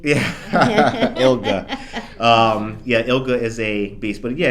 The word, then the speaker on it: ILGA: Yes, we call it ILGA. ILGA? Okay. Yeah, hard G. Yeah. ILGA. ILGA is a beast.